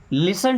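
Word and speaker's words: listen: कभी भी अगर टी ई एन किसी भी वर्ड के लास्ट में 10 सिंपल समझिए टी इ एन ऐसा लिखा अगर आ जाए तो हमेशा टी साइलेंट रहेगा टी को नहीं पढ़ा जाएगा है ना जैसे अब इसको लिस्टेन नहीं पढ़ेंगे लिसन लिसन मींस सुनो टू हिम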